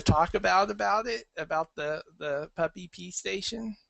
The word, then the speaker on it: PupPee: any other things that you want to talk about it, about the PupPee station, or PupPee station, not puppy? Well, it depends on how you say it.